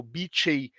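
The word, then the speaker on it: beecheii: Então, como por exemplo, aqui no Codex Maia, e da importância das abelhas, especialmente a Melipona beckii, né, ou beechey, como algumas pessoas né, pronunciam em inglês, né, a Melipona beckii, que é uma melipona extremamente importante para a cultura maia.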